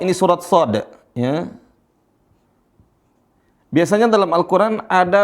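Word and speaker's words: ص: Ini semua dibaca 6 harokat. Berapa? 6 harokat, 6 ketukan. Makanya dibaca panjang.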